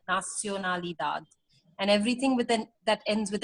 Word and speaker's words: nacionalidad: here, there is no A that is pronounced like English. So it is always A. So nacionalidad rather than nacional. Oh, Nacio.